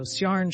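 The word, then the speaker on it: Ciarán: Is Ciarn pronounced differently to Kieran? Nope.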